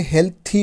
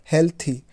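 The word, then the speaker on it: healthy: Correct pronunciation होता है वो हेल्दी ना होकर के हेल्थी होता है। क्या होता है दोस्तों? हेल्थी।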